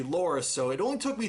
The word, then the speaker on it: Loras: heard his name i started calling him lawrence but yeah now i know it's actually loris so it only took